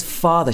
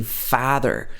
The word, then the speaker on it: father: by society once again she's using the a very british sound ah when she says father she doesn't say father like in the american action she says father ah and then uh at